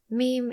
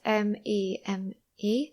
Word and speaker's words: meme: Meme is spelled M-E-M-E. I know that some people say meme, but in English it's meme.